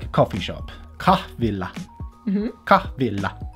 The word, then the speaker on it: kahvila: Kahvilla. Mm-hmm. Kahvilla. No, because I'm doing double L there, aren't I?